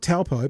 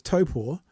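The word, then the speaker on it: Taupō: of course it wouldn't if if it's not taupo but it's Topo is that an attack on you personally of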